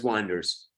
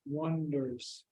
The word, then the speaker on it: wander: Wonders, Okay, and how do you pronounce this? wonder, Oh, you open your mouth more.